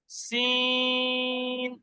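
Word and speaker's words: س: সিন, সিনটা উচ্চারণ হবে ছর মতন হয়ে, দন্তেশ্বর মতন হয়ে জিভের আগা এবং উপরের নিচে দাঁতের আগা।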